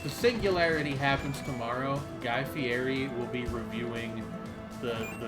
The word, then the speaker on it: Fieri: to mention that actually the r in his name is actually pronounced like in Italian it's FTI is it